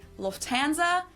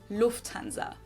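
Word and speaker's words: Lufthansa: In English, people usually say Lufanza, but in German, we say Lufanza. So, the emphasis on the first syllable, Lufanza versus Lufanza.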